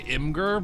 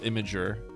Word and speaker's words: Imgur: I used to say Imgur, but I'm pretty sure it's Imgur. Like, it's supposed to be pronounced Imager.